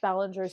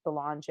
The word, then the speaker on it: Belanger: I love Jeff Ballinger's. He's got I think it's Belanger. I just totally gets mad when you say it wrong.